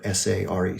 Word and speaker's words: Sare: And the last name is spelled S-A-R-E, Sare.